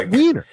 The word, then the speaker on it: Wiener: Do you say Weiner or Wiener? I have looked it up, and I have it written phonetically for later when I was going to mention him. So you're going to make me scroll through my notes. It's Wiener.